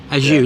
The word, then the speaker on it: Ajuy: Ajuy? Ajuy, isn't it, where we are? Ajuy, like a sneeze.